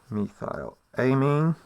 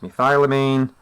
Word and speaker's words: methylamine: Okay, so this molecule here is methylamine, sometimes pronounced methylamine, and if you're American it'd be methylamine, for all those people who enjoyed watching Breaking Bad.